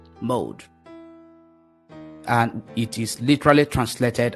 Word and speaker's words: moed: season is is spelled m o e d mode in Hebrew language it is spelled m o e d mode and it is literally translated as appointed time